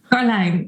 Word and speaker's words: Karlijn: In the Netherlands, we would say Karlijn. Oh. But the IJ sound is something very native to the Dutch language. No other language in the world, as far as I know, is used to it. So I've seen at least 20 variations of spelling and even more of pronunciation.